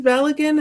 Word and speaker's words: Balogun: Just yeah, the American and the English pronunciation of his last name is Balogun, and that's all what I've always heard. But I think the Nigerian, she's actually pronouncing it the Nigerian way.